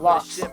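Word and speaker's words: Locs: It's spelled L-O-C-S like Lokes, but it's Lots of Locks.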